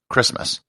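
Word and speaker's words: Kiritimati: called christmas island and how do they spell christmas k-i-r-i-t-i-m-a-t-i christmas if there are any kids listening to this and if you're ever in a spelling bee and get the word christmas spell it like this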